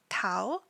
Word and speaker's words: Tao: have our last former member who is Tao Tau and in Korean it's spelled Tao ta o Tau in his birth